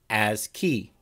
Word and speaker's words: ASCII: and simplest is called ascii text a-s-c-i-i pronounced as key is short for american